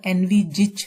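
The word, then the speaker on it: envisage: इसकी जो प्रोनाउंसिएशन है वो एनविजिच है, एनविजिच।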